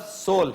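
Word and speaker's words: Seoul: सोल इसके spelling सियोल के ही है। लेकिन लफज़ सोल है।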